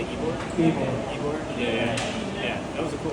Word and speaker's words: Ybor: Ybor.